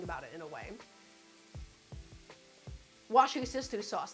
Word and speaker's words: Worcestershire: Wash your sister sauce, that's right.